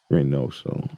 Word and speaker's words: Reoso: Reoso. Reoso. Okay. Not dumb. Reoso. Reoso. Dumb ass. Roll. You got to roll the R, man.